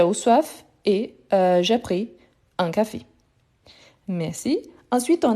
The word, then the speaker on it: pris: ici on a parfait pris prix on ne prononce pas le S à la fin mais il faut écrire toujours avec le S à la fin d'accord donc prix prix